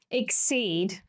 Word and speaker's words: exceed: Okay, the tricky component in this word is that the first sound sounds like it would be represented by the letter S.